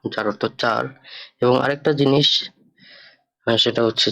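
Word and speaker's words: sehen: এটার বুকসটা বেরোন হবে এস এ হা এ এন, জেন। জার্মানিতে এস এস এর উচ্চারণটা হয় জয়ের মতো, জেন অর্থাৎ দেখা।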